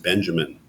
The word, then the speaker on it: Benjamin: Well, not much help I can be in explaining Walter Benjamin or Benjamin, however you want to pronounce it. I will pronounce it Benjamin.